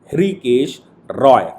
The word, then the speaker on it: हृषिकेश: Honourable justice के M Joseph और honourable justice हृषिकेश रॉय, Rishikesh रॉय भी उनको कहते हैं, एच साइलेंट होगा, ऋषिकेश रॉय, इन दो जजों की बेंच का जजमेंट है।